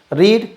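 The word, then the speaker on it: read: होगी, तो रीड की थर्ड फॉर्म होती है रेड। यानी स्पेलिंग तो वही रहती है लेकिन उसका प्रोनाउंसिएशन बदल जाता है थर्ड फॉर्म में। तो बुक्स वर फर्स्ट फॉर्म में ये रीड पढ़ा जाएगा, थर्ड फॉर्म में ये रेड पढ़ा जाता है।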